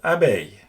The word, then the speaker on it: abeille: The sound here is the same as the one in English hey or say, hence the French words oreille, pareil, and abeille.